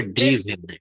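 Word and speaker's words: driven: ড্রাইভ, ড্রোভ, উচ্চারণটা হবে ড্রিভেন। ড্রিভেন, হ্যাঁ।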